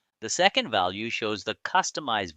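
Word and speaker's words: Kustomize: The second value shows the customized version pronounced as customize which indicates the built-in tool used for managing Kubernetes configuration files.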